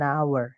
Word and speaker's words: hour: jam itu an hour walaupun tulisannya H ya teman-teman tapi eh nanti Bacanya adalah an hour hanya enggak dibaca seperti itu dan yang terakhir the